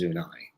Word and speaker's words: Zuni: Zuni is Zunai.